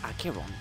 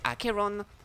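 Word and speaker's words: Acheron: archeron in case you were wondering archeon is pronounced akiron okay what was what what I was saying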